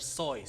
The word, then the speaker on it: Seuss: a video that says dr suus is not pronounce Dr suus but Dr soys so gitu Dr so tapi malu banget gue